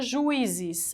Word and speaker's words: juízes: que é separado que se fosse junto eu não falava juízes eu falava juízes essa pronúncia não a pronúncia é juízes As duas são fortes